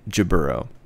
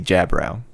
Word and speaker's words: Jaburo: So in this series, the dub pronounces it Jaburo. In I think 8th MS team and potentially 83, they say Jabrow, which right. Sounds a little cooler.